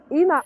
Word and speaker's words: Ena: Aa Ena. Sorry if I'm saying your name wrong. Ena. It's Ena.